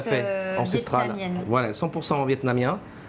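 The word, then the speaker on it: Phở: Voilà, ça se prononce comme ça, le Ok, fa.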